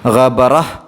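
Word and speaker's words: غَبَرَة: ഗബറത്തുൻ അതിൽ അവസാനത്തെ ആ താഇനെ നമ്മൾ പറഞ്ഞിരുന്നു തൊട്ട് മുമ്പത്തെ ആയത്തുകളിലൊക്കെ. ഇങ്ങനെയുള്ള താ കാണുമ്പോൾ അത് സുക്കൂനുള്ള ഹ ആക്കിയിട്ടാണ് ഉച്ചരിക്കേണ്ടത്. ഗബറഹ്, ഗബറഹ് ഒരു ചെറിയ ഹ് എന്നുള്ള ശബ്ദമാണ് വരിക, ഗബറഹ് എന്ന രൂപത്തിൽ.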